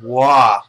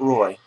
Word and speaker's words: Waugh: I know how to pronounce that one. Waugh. Not Roy. Patrick Waugh.